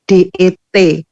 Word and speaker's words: debt: Padahal di English pronunciation ini bacanya nggak, B-nya itu luruh gitu loh. Jadi seperti hanya DET, debt gitu, debt collector.